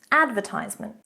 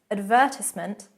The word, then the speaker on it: advertisement: Advertisement in American English. Advertisement. Advertisement in British English.